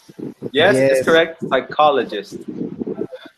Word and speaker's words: psychologist: H oh my good psychologist P is silent and H Island yes